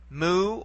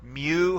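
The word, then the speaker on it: mu: now we come to the letter moo or Mew however you prefer to say it and it simply sounds like an m and you notice the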